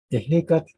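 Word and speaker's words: Ehécatl: Ejecat viene de dos sílabas, iji, que no es ni e ni i.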